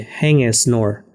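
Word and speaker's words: Haing Ngor: On the stage, a woman announcer read, Hang es nor, pronouncing it Hang es nor, which is as close to the correct pronunciation as foreigners usually get.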